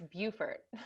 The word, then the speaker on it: Beaufort: right in north carolina depends on the state oh okay yeah in south carolina it's beaufort thank you chapel hill